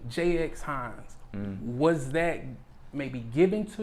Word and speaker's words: Jxhines: But it's silent. People skip over it all the time. Some people say Jxhines, some people say Jxhines. How do you say it? But it's really Jxhines.